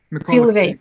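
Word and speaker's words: Khvylovy: You know, Khwilovi. Am I pronouncing that correctly? Khwilovi, in particular. Khwilovi.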